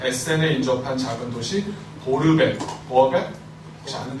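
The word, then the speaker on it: Borbeck: 하인츠 호르스트 다이시만은 아버지 하인리시가 1913년 에센에 인접한 작은 도시 보르벡, 보어벡? 혹시 아는 데 있나? 보어벡이요? 네, 발음, 자, 원어 발음으로 시작. 보아벡.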